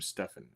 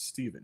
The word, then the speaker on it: Stephen: He constantly called him Stefan. And we'd say it's Stephen. He's like, "But it's spelled with a ph. That's Stefan. No, it's Stephen.